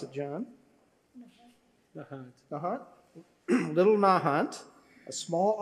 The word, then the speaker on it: Nahant: He grew up on, how do you pronounce it, John? Nahant.